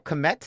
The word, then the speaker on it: Kmet: You went Cole Kmet. Is that how you say his name? Yeah, Cole Kmet. Cole Kmet, another tight end, which we'll get to that in a second.